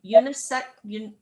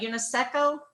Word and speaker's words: UNESCO: time when you visit old san juan a unisex how do you pronounce that unesco unesco what is it unesco unesco thank you